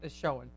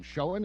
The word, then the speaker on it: Schoen: I think that's how you pronounce his last name. Schoen, is it Schoen? Schoen. Yeah.